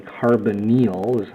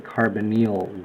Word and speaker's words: carbonyl: and ketones are characterized by what's called the carbonyl or the carbon eel usually pronounce it the carbonyl group and it's a carbon atom with a